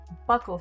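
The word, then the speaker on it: buccal: although apparently with uh Buckle fat removal for some reason I've been calling it bule fat I don't know why I because I read it before I ever heard it pronounced by human apparently a bunch of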